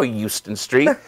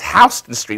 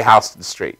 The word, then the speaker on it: Houston Street: Houston Street like well there's no Houston Street it's Houston Street but I guess we we probably mispronounced it we say house to the street you know through the